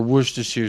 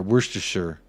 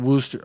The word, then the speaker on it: Worcestershire: bro I am but there you are Worcestershire fast money tip set up a copium stand at the Emirates there you go talk to me nicely nobody calls it Wooster okay I'm moving I'm